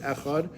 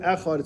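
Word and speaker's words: אחד: The Talmud tells us that we have to extend the word echad. We have to say echad longer, right? We elongate our pronunciation of the word, either articulating it verbally or mentally in our mind.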